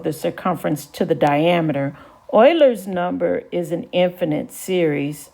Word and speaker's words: Euler: graphs now i'd like to introduce you to euler's number notice that it's pronounced euler not euler or anything like that and uh